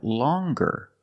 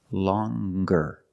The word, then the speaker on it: longer: nasal sound long but then you have longer where we have the hard G sound longer with a nasal sound plus the hard longer and we have the